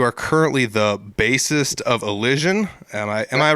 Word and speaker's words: Elision: But it is Elision for everyone that needs to know how to pronounce it. If you say, how do I pronounce that? It is Elision. That's how you pronounce it.